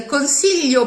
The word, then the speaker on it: consiglio: say, the consiglio periglio, the technique I teach to pronounce correctly the GL group, is again through a schwa, because you don't have to pass through the I at all. You see it spelled with an I, consiglio, periglio, but the only reason